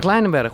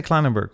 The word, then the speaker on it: Kleinenberg: Met Sander Kleinenberg, with Sander Klein.